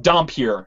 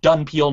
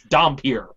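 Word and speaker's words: dhampir: redub some of the dialogue because, well, it's pronounced Dompier, not Dunpeel, not Doonpeel, it's Dompier.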